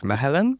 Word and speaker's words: Mechelen: And Fedora, your thesis focus on the city of Mechelen. Yeah. Do I pronounce it right? Mechelen, yes.